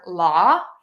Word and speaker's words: law: big tech for you the word law and saw we don't pronounce that last W LA and saw all